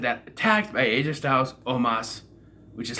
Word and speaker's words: Omos: And then they're, right after I said that, attacked by AJ Styles, Omos, which is how you say it. Omos, not Omos. Omos.